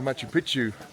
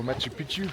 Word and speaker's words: Machu Picchu: So they left us yesterday and they went to Aguas Calientes, but they could unfortunately not get any tickets for Machu Picchu.